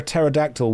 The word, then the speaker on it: pterodactyl: Why can't you hear a pterodactyl we because the P is silent?